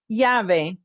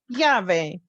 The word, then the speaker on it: llave: It sounds like yeah. The word to remember is llave. That means key in English. Yeah, yeah, llave.